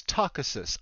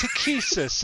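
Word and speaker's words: Takhisis: I listened to an audiobook decades later, and it's Takesis, and I'm like, ooh, that sounds fantastic.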